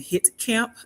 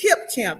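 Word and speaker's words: Hipcamp: I said it wrong, but it's Hip Camp. Yeah, like put your right hip in.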